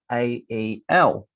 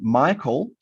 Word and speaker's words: Michael: So my name is spelt Michael.